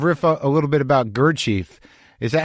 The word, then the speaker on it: Gurdjieff: What was you sort of riff a little bit about Gurdjieff? Is that how you pronounce his name?